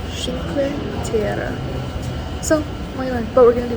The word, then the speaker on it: Cinque Terre: I've been pronouncing it wrong. It's pronounced Cinque Terre. So not Cinque Terre. How you say it in Italian is Cinque Terre.